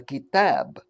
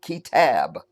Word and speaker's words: Kitab: We call the book the Kitab, which is the Arabic word for book. Kitab. Kitab. I'll just say it without the accent. Kitab.